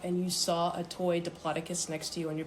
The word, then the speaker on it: Diplodocus: How do you pronounce diplocus? And it was Dloaticus. Dploticus.